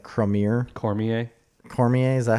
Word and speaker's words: Cormier: say his last name it's like cramer cormier cormier is that how you say it yeah so